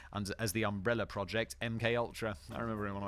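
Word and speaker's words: MKUltra: as the umbrella project MK Ultra I remember in one of my first ever videos on YouTube I pronounced it multra I don't know why this it's MK it's not MC I pronounce it like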